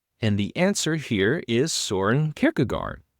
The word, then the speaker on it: Kierkegaard: And the answer here is Søren Kierkegaard, or Kierkegaard is the Danish pronounce it.